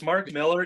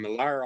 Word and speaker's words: Mark Millar: It's Mark Miller, even though it's spelled like Millar, but it's Miller. Okay, because I always think Frank Miller, and then I've been calling him Millar all this time, and